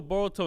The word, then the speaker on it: Boruto: You said Naruto, Boruto, and Sasuke versus Momoshiki. No, I literally wrote. I said every single person. I said Sasuke, Naruto, and Boruto. Boruto rhymes with Naruto.